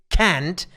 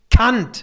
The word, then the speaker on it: Kant: In American or British colleges, they say Immanuel Kant. It's not Kant. It's Kant. Yeah, I'm very sorry. Yeah. But this has to be said. It's not Immanuel Kant.